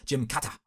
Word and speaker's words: Gymkata: Uh admittedly like you know obviously the solution here would be to pronounce it the way a Japanese person would which would be I believe a Jim Kata and then there's no